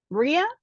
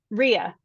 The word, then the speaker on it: Riya: Riya or Raya? Riya. Help me with pronunciation. Riya.